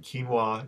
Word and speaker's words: quinoa: brown rice rather than white amaranth quinoa and quinoa if you're not familiar with it it's spelled qu i n o a and it's